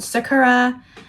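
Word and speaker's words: さくら: Now, this little like spoken word is called Sakura. I pronounce that word like an American, but I think it's a Japanese word.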